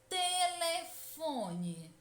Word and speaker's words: telefone: Por exemplo, na palavra telefone, qual é a sílaba tônica? Qual é a sílaba mais intensa? Telefone é a sílaba fó.